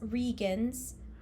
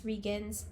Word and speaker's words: Reigns: the other hand vance regans which by the way it's actually spelled like reigns but apparently it's pronounced regan's in the audiobook so it's really weird